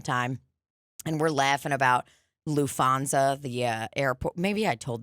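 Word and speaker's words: Lufthansa: So we're hanging all the time, and we're laughing about LouFanza, the airport.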